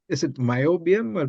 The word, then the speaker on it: niobium: looked up your website uh how do you pronounce is it myobium or mobium yeah niobium isi yeah yeah so it's a wonderful material